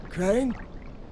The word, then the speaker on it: Crane: my name is crane crane crane rhymes with train and brain and sign and Grain and